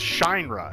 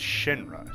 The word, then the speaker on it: Shinra: seven and he's like it's pronounced shine run and I'm like it's Shinra shine rough and you know there